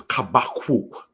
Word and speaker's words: Habakkuk: Next, we have, brothers and sisters, showing with the laser pointer, Habakkuk, which is pronounced as Kabakuk, which comes from the word kabak. We want to highlight that particular case there.